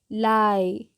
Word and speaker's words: lie: हम इसको क्या पढ़ते हैं, आई से बोलते हैं, आई से इसका उच्चारण करते हैं। चलिए एग्जाम्पल देख लेते हैं। DIE, डाई। LIE, लाई।